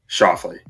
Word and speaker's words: Schauffele: Schauffele. Excuse me. I knew I was going to pronounce it wrong.